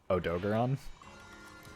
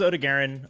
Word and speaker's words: Odogaron: do well um but next is odigaren uh or odagarone or odogaron if you're the Handler and want to be incorrect how I say it how do you say it oh dogeron that's just wrong those are just all the wrong vowels they give us the phonetic in chat of how you say it uh but this is Ode to Garen um so this